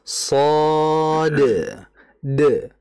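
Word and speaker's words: ص: Dan mengapa kita ada memantulkan di akhirnya huruf dal? Karena memang secara ejaan shad itu ada dalnya. Tadi kan disebutkan ejaan shad itu adalah shad, alif, kemudian dal. Kalau dibaca shad de. Karena memang secara ejaan ada dalnya.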